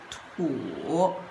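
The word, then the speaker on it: 土: A Li, this character, is combined with this part, which pronounced as Tian, and this part, which pronounced as Tu.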